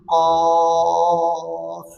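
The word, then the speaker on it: قاف: Ain, sin, qaf. Pastikan bunyi fa dekat hujung sebab ejaan qaf alif fa.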